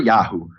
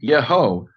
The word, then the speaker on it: Yeho: Whenever Yud He Vav appears at the beginning of a word, it's never Yahu or Yah. It's always Yeho, Yehoshua, Yehonatan, Yehonadav.